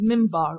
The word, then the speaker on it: minbar: there was another thing known as the pulpit minbar pronounced as minbar okay pulpit is also seen in churches from